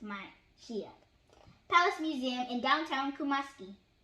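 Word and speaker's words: Manhyia: The next day, they visited the Manshia, pronounced Manshia, Palace Museum in downtown Kumasi.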